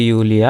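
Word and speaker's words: Julia: ডাংকে তারপরে হচ্ছে যে হ্যালো ইউলিয়া আমরা হচ্ছে যে সবসময় মনে রাখবো এটা কিন্তু জুলিয়া হবে না এটা হবে ইউলিয়া কারণ যার মানে যে কে হচ্ছে যে ওয়াই এর মত উচ্চারণ হয় তো সেজন্য এটা হ্যালো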